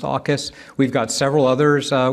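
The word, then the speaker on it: AUKUS: for asking so uh Aus is uh one of our latest Partnerships uh treaty alliances we have with Australia the United Kingdom and the US uh pronounced AAS we've got several others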